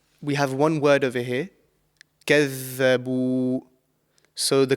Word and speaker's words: كذبوا: So كذبوا. And often this is, mispronounced with za, the letter za. So it's not kazza, it's كذبوا. This is the correct pronunciation.